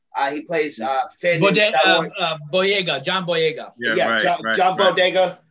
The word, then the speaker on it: Boyega: Tom Holland, John, I always pronounce his name wrong, but Bogiao, he plays Finn. Boyega, John Boyega.